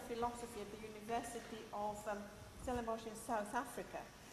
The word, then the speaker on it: Stellenbosch: He's in fact a professor of philosophy at the University of Stellenbosch in South Africa. How do you pronounce it?